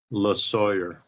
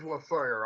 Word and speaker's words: Losawyer: Losawyer. It is Losawyer. I was thinking it, vaguely like the Rush song. All right, You are listening to NEOPA Radio, 102.5 FM. Once again, Losawyer from Voodoo Moonshine.